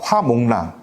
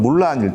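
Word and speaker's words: 木蘭: 그 민담일 텐데 그 화몽란, 그러니까 중국어 발음은 물란일 텐데요.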